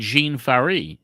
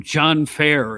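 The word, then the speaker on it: Jean Ferré: was the the giant jean fari yes i never pronounced that name right i always called him john fair you know because i read it in a magazine and andre russom off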